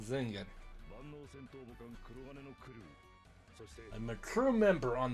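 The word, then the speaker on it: Zengar: I mean, it's got the A with things in like German. But he clearly pronounced it Zenga.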